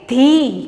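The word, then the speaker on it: the: सो हम इसको क्या प्रोनाउंस करेंगे? ध।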